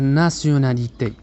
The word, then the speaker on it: nationalité: سنقول Quelle est ta nationalité؟ أعيد. Quelle est ta nation؟ لاحظوا أن T أمام ION ننطقها سيو وليس تيو، فنقول nationalité.